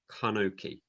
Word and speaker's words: Enoch: Okay, because the Hebrew Enoch is pronounced as Kanoki.